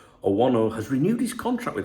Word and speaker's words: Owono: Jesus Owono, well, no doubt you should pronounce it as Jesus Owono, has renewed his contract with Alavés until 2029.